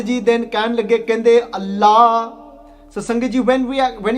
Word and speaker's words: Allah: So it's not with the tip of your tongue, you twist it and say more behind your teeth and you say la. So you say Allah, and then you don't say the whole thing at the end where you say Allah. So it's just open, it's Allah, Pakang, Pak.